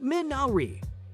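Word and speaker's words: Minari: oscars number three minery first things first it's pronounced min naori and it's a weed that purifies the ground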